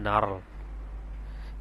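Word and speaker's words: gnarl: এরপর হচ্ছে এখানে জির উচ্চারণ না আসে, এখানে হবে নার্ল।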